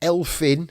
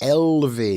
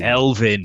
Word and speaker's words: Elfyn: It's not Elfyn. The single F is pronounced like a V. Yes. Elvyn. Elvyn.